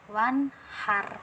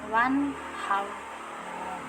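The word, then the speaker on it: وَانْحَرْ: Nah, jadi pembacaannya bukan wan har, tapi tebal ya, wan hau. Tebalkan seperti itu.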